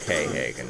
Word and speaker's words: Quayhagen: And more Quayhagens. I know it's pronounced K-Hagen, but I don't care.